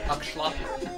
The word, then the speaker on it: axolotl: That's an axolotl. Huh? It's actually pronounced Akshlatl.